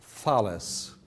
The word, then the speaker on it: Thales: Okay, so I shall try to make a habit of writing and pronouncing the names of Greek mathematicians as close to their original form as a Turkish pronunciation allows me to do, because I really hate this French and English attitude of deforming Greek words and pronouncing them in a funny way.